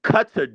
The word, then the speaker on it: Qatar: It's a long A.